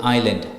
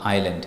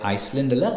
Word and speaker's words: island: telephone now with s the letter s is not pronounced before l in the following words like i a i s l e so s is Corridor and same thing with Island i l Island so it's not Iceland it's Island i s